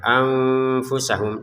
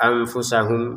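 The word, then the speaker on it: أَنفُسَهُمْ: Nah, di sini nun sukun bertemu fa kita baca dengan samar ya, anfusahum, dan itu butuh jeda untuk kesempurnaannya ya. Jadi jangan sekedar anfusahum.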